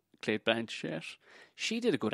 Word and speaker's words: Cate Blanchett: You know, it's all like Cate Blanchett. I'm saying it right, apparently. Cate Blanchett.